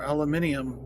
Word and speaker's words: aluminium: Or aluminium factory. I forgot Europeans pronounce it like that. Especially the British.